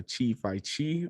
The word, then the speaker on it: Chifyechi: His name, he goes by Chifyechi. I believe I pronounced that correctly.